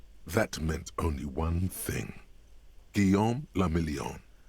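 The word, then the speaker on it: Guillaume Le Million: meant only one thing guillaume lamillion france if it doesn't rhyme you're not pronouncing it right out of the dazzling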